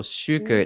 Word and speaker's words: Shuker: You can find me at Yeah, a lot of people ask me how to pronounce this, but uh is my handle. So, shuker is my last name, but